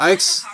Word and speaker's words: Aix: Is that pronounced Ix? That's not what the. You don't pronounce the X in French.